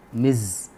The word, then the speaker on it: Ms: indicating with the respect ms as i said it is indicating miz it is pronounced that way now just very quickly